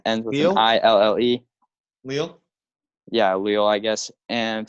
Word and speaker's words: Lille: Lille?